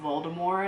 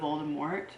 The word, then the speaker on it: Voldemort: He pronounces things weird, like he says Voldemort instead of Voldemort, which throws me off every time.